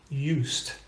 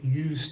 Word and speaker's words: used: the word use but in most dialects of English that I've heard the s still sounds like an S and and in fact